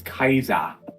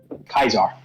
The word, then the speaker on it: Caesar: he's not he's not it's not Julius Caesar it's Julius Kaiser yes Kaiser Kaiser use the ltin the Latin pronunciation of Caesar kaisar kaisar okay I